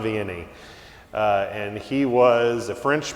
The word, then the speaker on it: Vianney: parish priests that is saint john marie baptiste viennese if my french was better i would probably pronounce all that better but as i say in the midwest saint john vianney and he was a